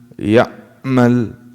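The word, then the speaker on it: يعمل: Ayn, if you close it completely, it becomes a hamza. And a lot of non-native speakers, like foreigners to the Arabic language, this is how they say it. وَمَن يَعْمَلْ, because they close it completely, it becomes a hamza. It's in between.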